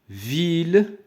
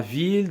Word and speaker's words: ville: Non, loin de la ville. Donc, I, 2 L, E, كنطقوها I. ولكن في الحالة ديال هذه الكلمة فيل من بين الحالات الاستثنائية. الحالات الاستثنائية اللي كنطقو فيها هاد 2 L.